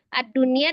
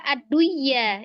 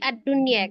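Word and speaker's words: الدنيا: Kenapa ad-dunya tidak dibaca ad-duya ya, tapi ad-dunya karena memang dia dihukumi izhar ya.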